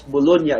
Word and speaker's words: Bologna: A professor of anatomy at the University of Bologna, that is pronounced correctly as Bologna in Italy, noted in his treatise ridges, spirals, and loops in fingerprints.